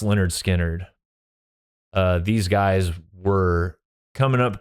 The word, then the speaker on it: Lynyrd Skynyrd: Lynyrd Skynyrd, pronounced Lynyrd Skynyrd.